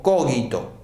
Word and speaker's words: cogito: Se escribe c o g i t o. Cógito. Es una palabra latina.